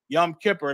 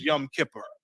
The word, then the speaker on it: Yom Kippur: uh a Yom Kippur Yom Kippur that's the Yiddish uh pronunciation of our ancient Hebrew yawam kaparium they call it Yom Kippur um and before we